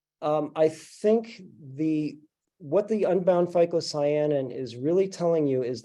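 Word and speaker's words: phycocyanin: correlation between unbounded -- and I'm going to butcher the name -- Phytocyanin.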